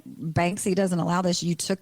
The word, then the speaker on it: Banksy: Yeah, Banksy.